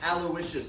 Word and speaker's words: Aloysius: father, Aloysius, that is the singular James, that's pronounced Aloysius, by the way, comes back and takes him to New Orleans to start a music career.